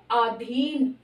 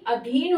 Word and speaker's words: अधीन: ना हो अब यहां शब्द लिया है आधीन आधीन नहीं अधीन होता है आपने देखा होगा स्वाधीन